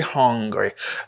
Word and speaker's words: hungry: UN n'a prononcé comme un, faut prononcer H là, ou vient gagner hungry. Hungry. Faut prononcer H là. Hungry. Par contre, ça c'est ang. A N n'a pas son N là, à cause GM vient gagner angry. Angry, pas hungry.